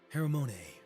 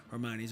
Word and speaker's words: Hermione: How about Hermon? Hermon? Is it Hermon? I think that's how you say it. Hold on. We got to We're going to We're going to look. Hermione. Hermione. Hermione. Interesting.